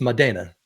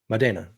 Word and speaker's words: Modena: you're gonna be like, "Of course, it's Italian. It's Modena. Modena." Right. So you may asking yourself, this Modena that we have, it's